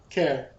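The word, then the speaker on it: Caer: Care. Because the pronunciation has a K in it on the pronunciation guide.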